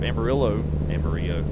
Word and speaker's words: Amarillo: Amarillo is the actual Spanish pronunciation of that. Which I guess actually sounds like yellow. It's not spelled the same though.